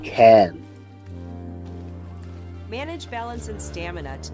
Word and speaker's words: Cairn: Around here it's pronounced Cairn.